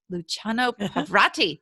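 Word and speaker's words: Luciano Pavarotti: directing such luminaries as i always say this luciano pavrati did i say it right yep yeah i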